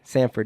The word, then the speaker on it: Samford: Samford, yes, There's sir. there's a lot of like cities and colleges like close in spelling, but pronounced differently. Sam, not Stan.